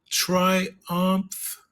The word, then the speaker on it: triumph: Can you can you see the triumph? Yes. Yes. Triumph. Yes. Perfect. Triumph. So it sounds like ump with a t. So it's like um mf, right? Umph with a t.